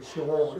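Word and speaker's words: 스올: 가로되 내가 받는 고난을 인하여 여호와께 불러 아뢰었사오니 주께서 내게 대답하셨고 내가 수월의 뱃속에서 부르짖었사오니 주께서 나의 음성을 들으셨나이다. 아멘. 물고기 뱃속인데 요나가 뭘로 표현해요? 수월. 이걸 영어 그 히브리어 발음으로 셰올이라고 그래요. 셰올.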